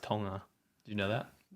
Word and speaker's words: Tonga: yeah it's actually pronounced tonga do you know that it's not it's not you don't say the g okay but anyway helping